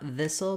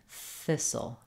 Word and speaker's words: thistle: this word so not thistle but rather thistle Thistle and then our T is silent our e at the end is silent and the L Sound